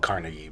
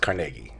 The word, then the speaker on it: Carnegie: Well, it's pronounced Carnegie. A lot of people call it Carnegie, but it's pronounced Carnegie.